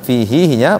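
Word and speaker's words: فيه: Jadi di sini bacanya fihi-nya panjang.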